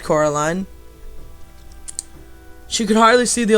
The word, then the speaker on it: Coraline: "No," Coraline said. The man shrugged. "They are funny, the mice. They get things wrong. They got your name wrong, too. They kept saying Coraline, not Caroline. Not Caroline at all."